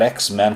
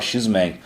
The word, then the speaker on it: X-Men: bem longe cheiros aliás muita gente diz que aprendeu a falar ex-men corretamente vem do desenho porque antes falava x-men ensina então pra gente